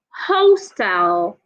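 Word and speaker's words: hostile: l e is pronounced hostel hostel the word h u s t l e is pronounced hassle they are not the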